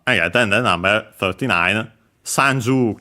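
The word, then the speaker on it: 三十: Uh sanju accent on the first mora.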